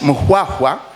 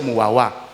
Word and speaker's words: Muaha: That Muaha, the Baganda can't pronounce Muaha. They say Muawa became the nucleus for Buganda.